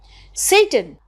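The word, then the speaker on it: Seyton: officer in waiting and the name is satan s-e-y-t-o-n but when you pronounce this word on stage what does it sound like i'll just come back to that satan i am sick at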